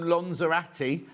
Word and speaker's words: Lanzarote: Jill says, just back from Lanzarote. Look, I'll say that again. That's how the locals say it.